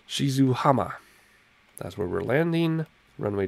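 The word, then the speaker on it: 静浜: Airport Romeo Juliet and November Yankee which is pronounced Shizuo hama that's where we're landing runway 27 there there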